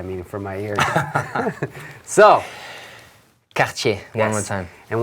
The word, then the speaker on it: Cartier: So Cartier, yes.